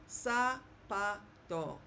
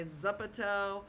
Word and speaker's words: zapato: It's always going to sound like s like the s. So, let's look at an example. Um, maybe some of you know this word, which means shu. Sapato. Sapato. Okay. Okay. So, I didn't say zapato or zapato. Sapato. Zapato. Okay.